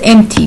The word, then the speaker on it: empty: Her paper was empty. P is silent, so put a dot under it.